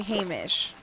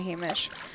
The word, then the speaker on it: Hamish: So, for AI purposes, you add a Y, you know, H A Y M I S H.